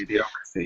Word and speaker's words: Idiocracy: How the fuck you pronounce it? I can't actually. I'm terrible with enunciations. Idiocracy, yep.